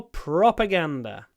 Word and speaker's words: propaganda: propag prop propaganda yeah the stress there's a secondary stress on the pro and a primary stress on the G propaganda propaganda propaganda um how do we Mark the stress on the ah with a little pause propag pause propaganda propaganda it's propaganda and we make the N long as well Ganda Ganda propaganda it